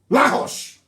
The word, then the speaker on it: Lagos: Lahosh. Lahosh, that's the correct pronunciation.